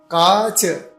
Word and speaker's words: काच: नैवम तो कांच नहीं, काच। ऊपर चंद्रमा नहीं है, बिना चंद्रमा के है तो क्या बोलना, काच।